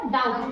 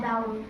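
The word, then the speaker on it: doubt: तब होगा जब टी से पहले यानी कि टी से पहले बी आ जाए तब बी का उच्चारण नहीं होता।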